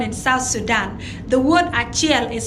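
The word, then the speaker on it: acel: Now, in Acholi, the word achiel is spelled as A-C-E-L, achiel.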